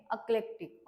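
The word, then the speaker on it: eclectic: आहे अकलेक्टिक सी एल सीटी आय सी याच प्रोनन्सशन आहे अकलेक्टिक ओके अलेक्टिक मिनिंग आहे अलेक्टिक डिराविंग आयडिया स्टाईल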